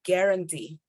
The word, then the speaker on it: guarantee: we don't say but we actually say guarantee guarantee no you you don't have to make the sound of you at all just say guarantee guarantee